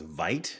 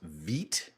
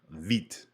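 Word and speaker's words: Vite: what i thought was veit is actually pronounced veet so who knew turns out that's a thing apparently it's french vit actually sounds a lot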